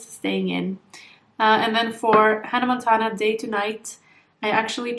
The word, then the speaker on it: Hannah Montana: That's not how you pronounce her name. Hannah Montana. We would say Hannah Montana in Norwegian, but that's Hannah Montana.